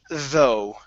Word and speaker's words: though: here is the word though though V okay now the GH does not make a sound we end on an o sound so though with the